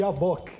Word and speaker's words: Yabok: Qual que é a pronúncia? Yabok. Yabok. Aliás, ele é um trocadilho no contexto de Gênesis 32 com Yaakov. Yaakov e Yabok.